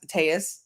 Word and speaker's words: Telles: I don't think this has been a great morning for Robert Telles. It has Tejas. He said that you can pronounce it either way.